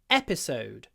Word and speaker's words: episode: watch the next episode the stress is on the first syllable in this word episode the last syllable is the longest because it's a double vowel an O episode so it's long but it's soft and it disappears episode so the second